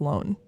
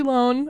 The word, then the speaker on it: Lohan: oh god i love it my gosh i learned last week that we've been saying lohan wrong the whole time her last name is pronounced lone no it's not oh